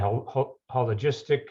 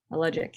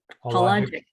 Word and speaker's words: Hologic: You were a lab assistant, and then you went into research assistant, hologistic. How do you pronounce that? Hologic, yeah. Hologic. Mm-hmm. Yeah, no S in there. Hologic.